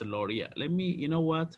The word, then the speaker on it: Lowry: correction okay so uh so that's pronounced lauria let me you know